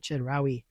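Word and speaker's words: Chedraui: Um it's spelled C H E D R A UI. Chedari.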